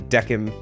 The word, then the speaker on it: Decim: that's how it's pronounced, because I think when he said the name of the bar later, it was like Quinn Decim. So I'm going to assume that his name is also Decim as well.